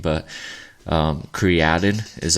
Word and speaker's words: creatine: it's actually pronounced like the uh original everyone pronounces it creatine but um created is like the way to say it um